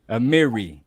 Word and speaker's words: Amiri: I think he meant to say Amiri. That's how it's pronounced. Amiri.